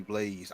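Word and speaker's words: BlazBlue: that's why they just called it blows over there but supposed to be blaze I don't know it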